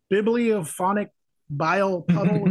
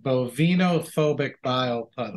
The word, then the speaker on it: Bovinophobic Bile Puddle: Bibliophonic Bile Puddle? Is that correct? Am I pronouncing that right? I think it's a Bovinophobic Bile Puddle.